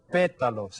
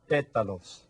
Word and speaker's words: pétalos: Los pétalos. And you see the accent there. Los pétalos.